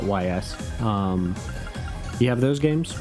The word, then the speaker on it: Ys: currently has you've got east or ys i think it is pronounced east but i always call it ys um you have those